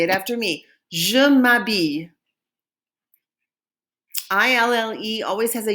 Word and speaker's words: m'habille: And we've used an apostrophe because habille starts with a vowel sound, which is why we did m'habille, t'habille, s'habille, right? Because there's an H at the beginning and that is a vowel sound because the H is silent.